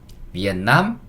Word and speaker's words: Vietnam: 그렇다면 영어 로 읽을 때 는 어떻게 읽어야 할까 요 ? " 베트남 ." " 베트남 " 이라 고 읽으셔야 합니다 .